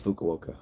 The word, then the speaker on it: Fukuoka: uh close to the water and yes she pronounced it right okay good it's so it is Fukuoka okay tank8 says what are you going on